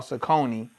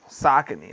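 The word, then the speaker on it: Saucony: I like uh Sakin, which I used to call Sakonei, but it's but it's uh pronounced Sakin.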